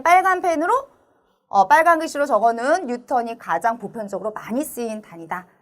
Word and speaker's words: 뉴턴: 우리 힘의 단위의 가장 대표적인 단위는 N이라고 읽으면 안 되고 우리 뉴턴이라고 읽어줘요. 뉴턴.